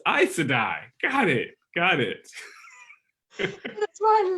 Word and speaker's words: Aes Sedai: And also helped me figure out how to pronounce so many of those names. Oh yeah, no. Aes Sedai. Oh, it's Aes Sedai.